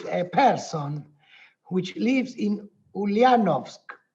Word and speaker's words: Ulyanovsk: Because the first thing I asked, I wanted to visit a person which lives in Ulyanovsk, right? Did I pronounce correct?